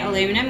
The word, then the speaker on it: aluminum: How do you say aluminum? We say aluminium, because that's how it's spelt there.